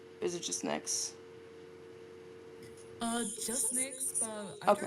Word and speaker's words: Nyxe: Is it just Nyx? Just Nyx, but I Okay. don't really mind how you pronounce it as long as it's not Nyx.